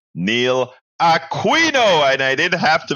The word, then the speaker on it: Aquino: Neil and I'm gonna say it right Neil Aquino and I didn't have to make the mistake